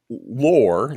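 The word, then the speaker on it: Loor: yeah exactly but it's called Lore like folklore but it's spelled weird l-o-o-r and I actually just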